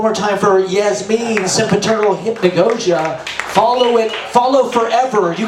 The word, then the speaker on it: hypnagogia: It's called sempiternal _hypnagogia. How do you spell that? Hypnagogia.